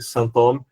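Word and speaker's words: sinthome: A gente já falou um pouquinho desse Saint-Thome, que eu pronuncio em francês só para dizer que é aquele com H e que tem a ver com alguma coisa, um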